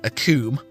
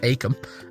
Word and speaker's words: Acomb: in an area that we've been calling a coombe, but actually it's just called Acomb. And the B is silent.